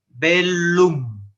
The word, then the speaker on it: bellum: vida es bella entonces en latín se pronuncia por separado bellum del loop otra indicación